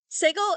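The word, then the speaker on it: סֶגוֹל: dot on the bottom segle is pronounced something between the E of bed and the a of B so I want you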